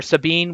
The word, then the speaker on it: Sabine: So Ranger, I know Sabine, not Sabine. Sabine. Yeah, Sabine. I don't like doing the Just pronunciations.